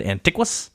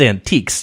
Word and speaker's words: antiques: I didn't know how to pronounce antiques, and I said antiquas. What? Okay, well, what does this have to do with you said anything? It's antiques, you idiot.